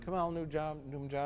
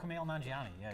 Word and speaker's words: Kumail Nanjiani: Kamal Numjabi. Oh, Kumail Nanjiani.